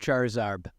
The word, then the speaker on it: Charizard: So I had a Charizard onesie, Mm-hmm. which was my main go-to. It's pronounced Charizard.